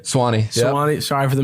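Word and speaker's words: Suwanee: mean you're from Georgia you're from was it suani right Swani Swani sorry for the mispronunciation worries I mean that's a far ways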